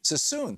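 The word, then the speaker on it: Suisun: you politics is really skewing it George in swen City California am I saying it right George siss city suon thank you so you're on the air with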